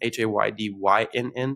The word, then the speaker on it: Haydynn: It's my Instagram is at Haydyn, Haydynn, so it's spelled different.